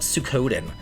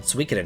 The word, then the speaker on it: Suikoden: it took me to learn just how to pronounce, like, Suikoden. And that was back in the day. I used to call it Suikoden, and now I call it Suikoden.